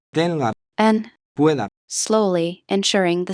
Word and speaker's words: pueda: Don't pronounce it as two separate syllables. Practice saying words like Tenga. and Pueda.